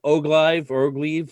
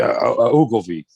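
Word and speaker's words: Ogilvie: name, Marilyn Manson, David Ogleve, and Trent Reznor was still involved at this point. That would be Ogilvy. Ogilvy, I go to Ogilvy's.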